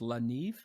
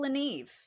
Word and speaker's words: Le Neve: And it's Ethel, and you'll pronounce it for me, but it's Le Neve. Ethel Le Neve.